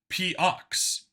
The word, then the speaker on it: POX: On the back, the armor said, P-Ox.